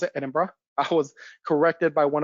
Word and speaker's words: Edinburgh: to edinburgh now yes that is how you pronounce it edinburgh i was corrected by one of our scottish